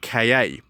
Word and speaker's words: Ka: very very very basic three different ways of pronouncing the name you can say car car or Ka and forward various points in their history have actually used all three I'm gonna go with